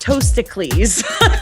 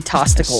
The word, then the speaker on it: Toasticles: By the way, it's pronounced Toasticles. Toasticles. To which I say, I'm sorry. I love Toasticles. I love that name, but to us, you're always going to be Tosticles.